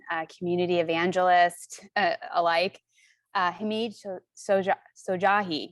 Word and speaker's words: Hamid Shojaee: and colleague and a community evangelist alike uh hamid sojahi right and i pronounce that right yeah it's cool i tried